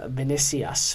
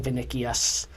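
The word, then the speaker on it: Vinícius: Vinicius, we've been saying his name wrong, Vinicius Jr., is it Vinicius? Vinicius. It looks like Vinicius. It's Vinicius. The C is a little more silent than we anticipated.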